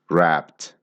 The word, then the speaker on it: wrapped: add e d but the pronunciation of that e is more like a t sound T wrapped wrapped is also an